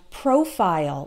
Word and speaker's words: profile: American or British so we always pronounce it like Isle in the short words like smile okay pile tile as well as reptile and profile like your Facebook profile